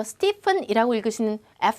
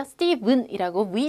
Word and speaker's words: Stephen: 그래서 보시면 Stephen, 이거 Stephen이라고 읽으시는 F 사운드로 읽으시는 분들 계신데요. Stephen이라고 V 사운드로 읽어주시면 돼요.